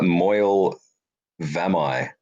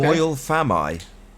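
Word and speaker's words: Moel Famau: Actually, I learned how to pronounce it today. By the way, it's Moyle Vamai. Okay. Moyle Famai.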